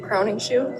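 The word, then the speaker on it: Crowningshield: Crowning shoe. Crowning. So spell it again.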